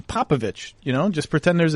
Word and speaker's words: Popovich: you just got to get ick out of your out of your uh it's itch itch you got to get popovich you know just pretend